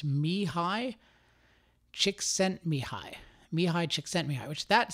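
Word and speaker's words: Mihaly Csikszentmihalyi: it but I've just learned from YouTube it's pronounced me hi Csikszentmihalyi me hi csikszentmihalyi that sounds not so bad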